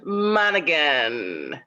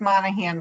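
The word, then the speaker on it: Monaghan: and we have monegan is that right monegan yeah she's the one on zoom with us this morning yeah congratulations it's pronounced monahan but thank you very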